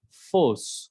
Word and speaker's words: fausse: Ensuite, on a faux, fausse. Ahí también cambia mucho la pronunciación en masculino y femenino.